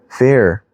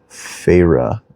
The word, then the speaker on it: Feyre: Fair. Oh, fair? Is that how you pronounce that? Fair. Feyre. I'm assuming that's the main character's name. Feyre? Oh, Feyre. Okay. Feyre?